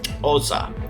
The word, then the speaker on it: Xhosa: The way I remembered this is because of the cool click language used in South Africa and Zimbabwe, known as Xhosa. Yes, that X is pronounced as a over there.